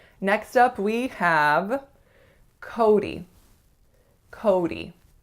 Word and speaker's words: Cody: Cody. So 2 syllables, and make sure that first syllable is really a full O sound. So it's not ko, it's ko.